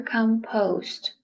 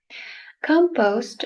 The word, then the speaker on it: compost: This word has two pronunciations. You can say compost or compost. Both are correct. Compost is a mixture of